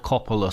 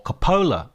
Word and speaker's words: Coppola: We're going to be talking about A Path to Paradise, a Francis Ford Coppola story, or Coppola, I should say, actually.